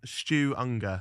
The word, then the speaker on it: Stu Ungar: it the the the final the final name Stu anger am I pronouncing that right yeah that's right yeah so